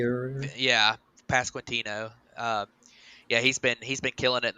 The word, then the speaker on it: Pasquantino: Nick Prado and I'm drawing a blank on the other guy that I can't pronounce his name. Vinny Pasquantino. Pasquanicki or Yeah, Pasquantino.